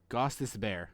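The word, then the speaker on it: Gostisbehere: It is pronounced Goss's Bear.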